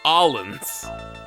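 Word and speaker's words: Orléans: what what you want Orleans year or or as the French pronounce it Allin did I pass it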